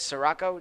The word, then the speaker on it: Sirocco: not know his name so it is Sirocco just to clarify any mispronunciations that I had it happens to the